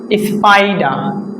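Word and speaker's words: spider: আছে আমরা পরবর্তী কোন একটা ক্লাসে শিখব ইনশল্লাহ স্পাইডা এখানে আর হবে স্পাইডা ব্রিটিশ ইংলিশ আমরা দেখব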